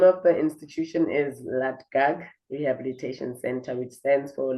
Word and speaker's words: LADGAC: So let's hear how you pronounce it and what they stand for. And the name of the institution is LA gag rehabilitation center which stands for limpopo anti-drugs anti-gangsterism and anti-rime.